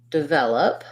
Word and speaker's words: develop: so for the word develop what i often hear here in this word is that people will stress the first syllable instead of the second syllable so the rhythm of